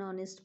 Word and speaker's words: honest: apple an egg an honest person and our honest person and our a here h is silent so they sound like